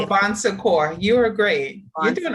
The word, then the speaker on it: Bon Secours: Bowley was site leader and medical director for the Bone Secure medically supervised weight loss program. Did I mispronounce that? It's okay. Say it for us. Say it. Bon Secours.